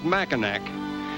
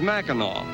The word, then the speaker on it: Mackinac: Incidentally, when we first arrived on this unique island, we called it Machinak, but we were informed that the correct pronunciation is Macheno, as it is the French derivation of the original Indian name.